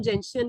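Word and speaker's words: gentian: नहीं बचा है, then जेंटियन इज a very good medicine. इसे हम जेंशियन भी प्रोनाउंस करते हैं।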